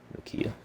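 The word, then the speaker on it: Nyoka: I pretty much mispronounced her way the entire game until I actually learned how it's actually pronounced, where it's going to be Nokia.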